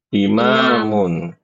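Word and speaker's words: إمام: Khalfa belakang belakang nih ibu-ibu bedakan antara amama sama Nah apa ini bacanya imam imamun bedanya dari mana ya alif ini bedanya dari hamzahnya ya amama hamzahnya di atas imamun hamzahnya di ba di bawah ya, jangan sampai ketukar. Baik, Ibu-ibu ini karena sudah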